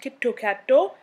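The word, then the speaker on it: キットカット: is in its name kitkat in japanese is pronounced kitto katto which actually sounds very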